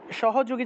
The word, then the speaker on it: সহযোগী: আর যেহেতু এখানে হসন্ত নাই তাহলে সাহাযোগী। এইভাবে উচ্চারণটা হবে।